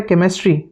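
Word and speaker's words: chemistry: तो coarse same क एक और है केमिस्ट्री सी एच ई एम आई एस टी आर व कभी सोचा नहीं कि केमिस्ट्री क्यों नहीं है?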